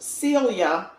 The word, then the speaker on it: Celia: Tasha not Cecilia her her name is just Celia not cilia perhaps that's why she